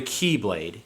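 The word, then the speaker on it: χ-blade: It turned into Ventus and then Vanitas, who would fight together to form the Keyblade. Key spelled like X, like C-H-I.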